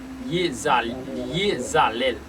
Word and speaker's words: Iezalel: Sans plus tarder, nous entré dans le dernier génie pour mardi 16 juin, mardi 16 juin 2023, qui c'est Yezalel qui s'écrit IEZALEL lycéon chérubin.